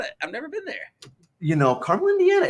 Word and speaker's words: Carmel: Carmel, Indiana, north of Indianapolis.